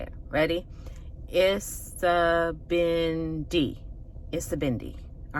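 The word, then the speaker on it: Isibindi: It has 4 syllables. Isabindi.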